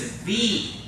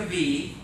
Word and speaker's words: wie: The next word is V. Because remember, the W sounds like a V, and then the IE makes an E sound, so that word's going to be V.